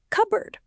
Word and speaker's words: cupboard: We do not pronounce the P sound. We do not say cup-bird. We say it like cupboard.